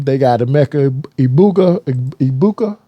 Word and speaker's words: Egbuka: you double him they got a Mecca Iuka ibuka how do you say it e egbuka they got uh junkins and Henderson it it's